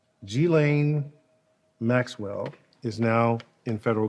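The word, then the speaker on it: Ghislaine: it again i want to make sure i pronounce her name correctly g-lane maxwell is now in federal custody number one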